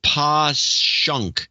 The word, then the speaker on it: Passyunk: And then Pasyunk is Pashunk. Pashunk. Passyunk is Pashunk.